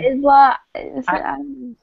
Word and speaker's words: Isla: Well, it's like island. You don't pronounce the S. True. It's spelled Island. And like aisle, like a grocery store aisle.